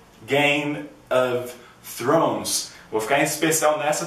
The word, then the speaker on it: Game of Thrones: pronunciar que é o Game of Thrones Game of Thrones vou ficar em especial nessa porque essa tem o som do th que nem The Big Bang Theory só que ela é